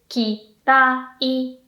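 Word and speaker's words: 嫌い: And then kirai is kirai.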